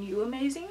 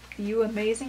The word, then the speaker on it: UAMAZING: into it okay so I think it's pronounced like you amazing hair but I say you amazing here so it originally came